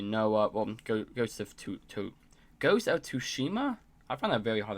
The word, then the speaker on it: Tsushima: Well, Ghost of Tsushima? I find that very hard to pronounce. Tsushima.